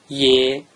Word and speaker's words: ye: It is NOT pronounced “ye”. It is pronounced “yê”. The pronunciation of “Yê” is just like the vowel symbol you see on the screen “ye” = “ie”.